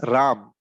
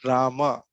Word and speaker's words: Ram: it is like this it is pronounced as RAM okay so what happens is when you move right Rama it is like that so it so in the English pronoun in the English pronunciation it becomes Rama okay but Ram is how the Sanskrit pronounce it is so when I'm saying